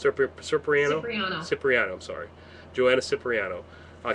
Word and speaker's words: Cipriano: which is Joanna uh soprano or was it pronounce it again s ciano ciano cypriano I'm sorry Joanna cypriano uh case number 547